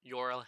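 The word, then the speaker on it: Jorrel: It is or Yorel hatto instead of Jerel. Um it's just easier to m pronounce it that way for me because you know in America it's you know usually you pronounce your your J's.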